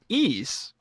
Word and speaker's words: Ys: This is Ease, the Vanished Omen.